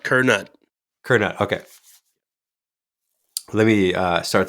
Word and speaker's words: Curnutt: say your last name kette Kut yep just like it's spelled kerut Kut okay let me uh